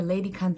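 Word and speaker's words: ledikant: Okay, it's not spelled anything weird. L-E-D-I-K-A-N-T. But as the shop owner starts talking to me and she keeps saying, you need a lady cunt, lady cunt.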